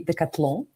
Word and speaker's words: Decathlon: And I'm meeting today Alexander Droukovski from Decathlon or the French way of pronunciation would be Decathlon.